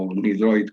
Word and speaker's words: UniDroit: Me es importante destacar que estuvo trabajando en UniDroit o UniDroit, como se pronunciaría en español, una entidad a la que seguramente muchos de los que estáis escuchando conoceréis.